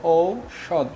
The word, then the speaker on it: ঔষধ: হবে যেমন ঔষধ হ্যা যেমন ধর ঔষধ লিখলাম এটার উচ্চারণ কি হবে বলো ঔষদ ঔ সদ হ্যাঁ মৌমাছি এই নিয়মটা